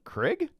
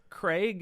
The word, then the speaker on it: Craig: It does not rhyme with egg. Oh, Daniel Craig?